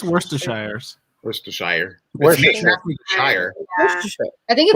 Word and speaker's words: Worcestershire: this sheer now like you drop a bunch of syllables it's just like the beginning and the ends it's like we're sure oh like worcester pennsylvania yeah yeah it's worcestershire i